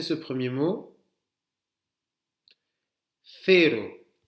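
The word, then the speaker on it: cero: Fero. Vous avez vu, c'est le moment où la langue sort de la bouche, là, comme le TH anglais, mais fero, comme un Z espagnol.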